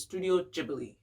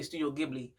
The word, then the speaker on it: Studio Ghibli: hold on so the proper pronunciation is studio ghibli but i used to say studio ghibli it just looked like that so i'm like why not but that's not the correct that's not the correct way to say it one of the films